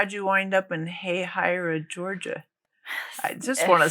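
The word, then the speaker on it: Hahira: Jacksonville okay yeah how do you say this hey hyra hey hyra M what kind of name is that I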